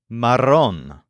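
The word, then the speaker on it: marrón: coffee or more often Maron spelled m a r r o n with an accent on the o Maron for example it's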